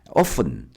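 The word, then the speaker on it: often: 얘는 열다고 얘는 오픈 어픈 t가 발음이 안 돼요. 봐봐 할 때 T가 발음이 안 돼. 단어 외 때 잘 외워야 돼. T가 발음이 안 되니까 결국은 요렇게 발음 되는 거야.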